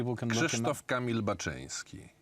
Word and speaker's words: Baczyński: Krzysztof Kamil Baczyński. Baczyński, yes.